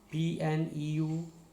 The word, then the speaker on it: pneumonia: P is silent. PSYCHOLOGY, psychology. PNEUMONIA, pneumonia.